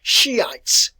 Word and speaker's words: Shiite: you write that too now the word is pronounced and listen to my pronunciation here shiites shiites it is easier and i i'll shift over to this more often than not a shia shia all right then we